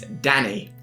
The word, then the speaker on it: Danny: they were using so I do want to say it's Danny that's that's how you say the name I didn't